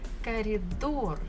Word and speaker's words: коридор: Коридор. Коридor. We also have bukva O and bukva R. Коридор. Stress falls on the final syllable or door.